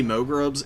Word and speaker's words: Mogrubs: It's actually Mogrubs. Everybody mispronounces it.